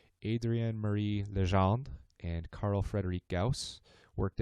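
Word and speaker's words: Legendre: So then nearly a century later, two researchers, and I'm going to try to bust out my Canadian heritage here and pronounce this correctly, Adrienne Marie Lejand and Carl Frederick Gaus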